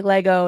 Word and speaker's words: Lego: been through this steo the correct way to say Lego is just Lego not Lego because I was saying Legos to Kelly for the longest time